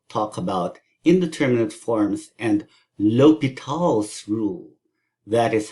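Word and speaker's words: L'Hôpital: about indeterminate forms and l'hopital's rule that is how it is pronounced it's like low pitol low betal through uh it's obviously French and it kind of looks like Hospital except there's no s and there's that funny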